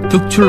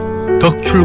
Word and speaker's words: 덕출: 고민해서 발음하기가 쉽지 않은데 경상도 출신인 제가 제 이름을 얘기하면 많은 사람들은 더 추리 아니라 둑 출 알아 들었습니다 그래서 서울 친구들에게 얼 바람을 확인하며 열심히 연습 했어 지금은 덕 출 과 특출 어느정도 구별되게